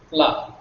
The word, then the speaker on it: plat: It is plat. Again, the last T is not pronounced.